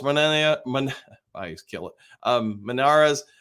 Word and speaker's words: Manz: I kill it um Manz uh pronounced manes uh have been same